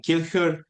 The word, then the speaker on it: Kilchör: Benjamin Kilchör, professor of Old Testament. Welcome, professor, and how are you? Did I pronounce your last name correctly?